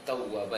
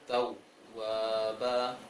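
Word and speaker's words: تَوَّابًا: Seharusnya kana tawwaba, ditahan dia, tawwaba, jangan dibaca tawwaba.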